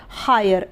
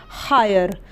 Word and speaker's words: hire: इसलिए इसका उच्चारण नहीं होगा यानी कि ये साइलेंट रहेगा तो ये बन जाएगा ह पे आ की मात्रा, य और र हायर, HIRE हायर।